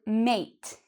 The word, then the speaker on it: mate: So for example, this, I would say mat, mat, just like the word at, mat. Whereas this word is actually mate, mate. So mat and mate.